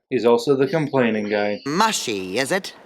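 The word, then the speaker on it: Mushi: Mushy, is it? It's pronounced mushy.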